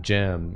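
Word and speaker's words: Gim: a different guy yeah it's jim spelled like the the place you go to work out yeah it's jim with a g g-i-m um earlier uh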